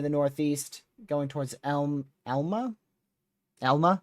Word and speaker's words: Elma: Elma looks like how you pronounce it.